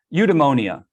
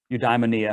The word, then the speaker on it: eudaimonia: but it's called um eudemonia or eudaimonia however you want to pronounce it it is i